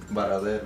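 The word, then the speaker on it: Varadero: Baradeiro. Baradeiro. Se escreve Varadeiro para nós brasileiros.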